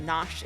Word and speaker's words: Nosh: No, just Nosh is fine.